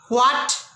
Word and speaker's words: what: डब्ल्यू के बाद आने वाला एच प्रायः मूक होता है, साइलेंट होता है, उसको नहीं बोला जाता है। जैसे व्हाट, where, whose, when, तो एच को प्रोनाउन यहाँ नहीं करते हैं, इतना ध्यान रखिएगा।